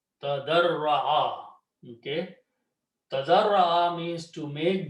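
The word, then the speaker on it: تَضَرَّعَ: And the middle letter is Ra, so put a shadda. So this word is pronounced tadarra'a. Tadarra'a.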